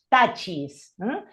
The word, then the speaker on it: touches: Acá por eso, y como termina en S o en CH, no solo se le agrega la S, sino la ES y se pronuncia esa E. Entonces, por eso es touches. The staff touches the ground and points upward.